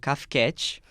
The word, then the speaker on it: Kafcat: E eu fui o diretor e também o roteirista do curta CAFCAT, né? Que essa é a pronúncia que eu envisionei, assim, que foi o projeto de segundo semestre.